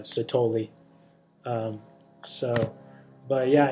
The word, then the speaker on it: Sithole: surprise his last name i say it's sid whole but they they call it they pronounce it uh sotoli um so but yeah